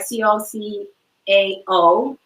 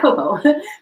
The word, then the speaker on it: cacao: COCAO. Yes, not cocoa.